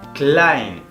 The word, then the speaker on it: klein: Por ejemplo, si tenemos E y junto, la letra E y la letra I juntas en una misma palabra, esto se va a pronunciar como ai. Por ejemplo, klein, pequeño, klein.